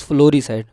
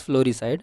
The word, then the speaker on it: floricide: It is not flaricide. I am really sorry. It is floricide. Whenever you see the word floral, floral means regarding flowers. Okay, so it is floricide.